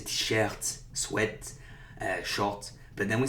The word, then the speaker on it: short: Okay, when it's a word, again, straight out of English, we do pronounce that T.